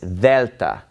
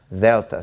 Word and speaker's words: Delta: letter is Vetta and it is basically pronounced like the th in the word the okay if you speak Spanish you're probably used to pronouncing the DS in this way but this is Delta Delta so alpha vita